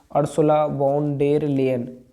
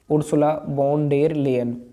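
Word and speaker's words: Ursula von der Leyen: अर्सुला वॉन डेर लेयन, यूरोपीय जो commission है उसकी अध्यक्ष है ये, उर्सुला वॉन डेर लेयन। क्योंकि प्रोनाउंसिएशन थोड़ा अलग है इसलिए थोड़ा खैर आप पढ़ लेंगे इसको।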